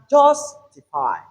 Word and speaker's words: justify: So in this three slabic word we have the stress on the third syllable from the end when you're counting from here 1 2 3.